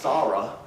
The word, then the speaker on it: Sarah: of our daughters but it would actually be pronounced s-a-w if you're you know you see the pronunciations and then a h uh raw so saw like you saw something raw so sarah but we